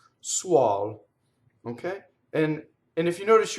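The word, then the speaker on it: suol: Suɔl. So usually before, see this U and the O, usually when you have an U before an O, the vowel will open.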